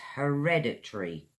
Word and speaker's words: hereditary: I've got for you is hereditary huh· reh· duh· tree four syllables.